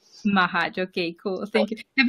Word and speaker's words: Machac: Mahac is how you say it. Mahac.